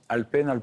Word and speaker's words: Alpen: Les erreurs qui vous empêchent de maigrir aux éditions Alpen, comment on prononce?